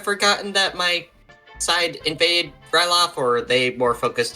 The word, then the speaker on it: Ryloth: Anyway, so your next mission, is on the planet, Ryloth. Am I saying that right? It's Ryloth. Yes. Yay! Ryloth. I said it right.